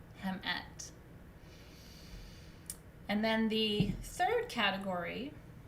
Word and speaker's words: hmt: so tai is male female is hmt it's pronounced hemet hemet and then the third